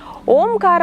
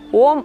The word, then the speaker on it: ಓಂ: ಅರ್ಥ ಮಾಡಿಕೊಳ್ಳಬೇಕಾಗಿರುವಂತದ್ದು ಏನು ಅಂದ್ರೆ ಓಂಕಾರವನ್ನ ಮೂರು ಭಾಗವಾಗಿ ನಾವು ಡಿವೈಡ್ ಮಾಡ್ತೀವಿ ಅಂದರೆ ಅಕಾರ ಉಕಾರ ಉಂಕಾರ ಅಕಾರವನ್ನ ನಾವು ಈ ಅಬ್ಡೋಮಿನಲ್